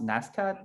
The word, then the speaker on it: NSCAD: Is that pronounced NSCAD, right?